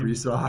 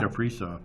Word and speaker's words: Kaprizov: I They mean, but got a guy hire extra security now just to keep an eye on how do you pronounce his name? Kaprizov. Kaprizov.